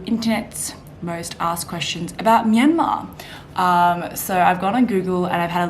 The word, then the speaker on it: Myanmar: Okay, so I pronounce it Myanmar.